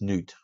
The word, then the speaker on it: Nut: The next one you're going to love, because this is Nut. Nut was the goddess of the sky. I think it's actually pronounced Newt.